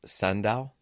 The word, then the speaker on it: Sanda: And it's sanda? Sanda. Sanda. Is that Correct. Korean? It is Chinese. Sanda. Yes. Spell that.